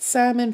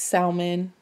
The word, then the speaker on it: salmon: But salmon versus salmon, I think, I don't know, it's just saying it wrong. I don't think it's a regional thing. You just don't, the L is silent.